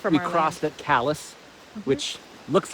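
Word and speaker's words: Calais: a half hours from We crossed at Callus, which looks like it's pronounced cala, which it should be. But what's the saying? If they say Calala, they're from away. So, the correct misprononunciation is callous.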